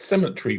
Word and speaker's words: Sematary: it is actually spelled it is actually pronounced as you would as you would pronounce Cemetery where they bury people it's just that within